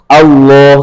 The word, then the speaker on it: الله: Kemudian kalau lafaz Allah bunyinya kan o kecuali dibaca yang tipis. Lillah, innalillah, bismillah kan gitu ya. Itu yang dibaca ringan. Tapi kalau dia mandiri sendiri tulisannya Allah tebal ya kan Al Allah.